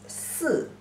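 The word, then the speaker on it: 四: Pronunciation is si.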